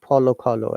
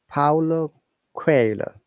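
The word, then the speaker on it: Paulo Coelho: factual matter is that uh the pronunciation because it's a brazilian name uh it's kind of portuguese name it is paolo quailer and it was pronounced in a very very like polo color and i couldn't understand what it meant it is paulo crayola because it's a brazilian name it is not an english word so please guys it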